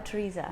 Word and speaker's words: Tresa: But I'm Tresa. Yeah, I know. I get the pronunciation. It's got no H in it.